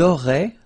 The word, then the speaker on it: auraient: Vous auriez, little link between the two, vous auriez, and then, ils auraient, little link, but then look, A-I-E-N-T like that, and you only pronounce E, like we had here.